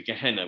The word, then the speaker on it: Gehenna: There is Gehenna is actually, Gehenna as it's pronounced, is a valley outside Jerusalem, which was where they used to tip all the refuse.